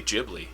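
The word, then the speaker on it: Ghibli: of wind yeah any gibli movie is good but if I had to pick favorite it's apparently jibli that's actually you're supposed to pronounce it it's jibli j a ji ji way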